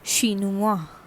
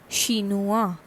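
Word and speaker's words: chinois: o i s okay for masculine it is shinuwa shinua c-h-i-n-o-i-s okay for femina it is shinuas shinuas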